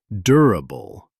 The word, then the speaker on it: durable: Pronunciation tip, start with a dur sound like enduring, durable.